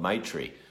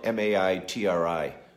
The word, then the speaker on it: Maitri: live by is called Maitri. I'm not sure if that's the right pronunciation, but it's spelled M-A-I-T-R-I, Maitri, or Maitri, and it means loving kindness and an unconditional friendship with oneself.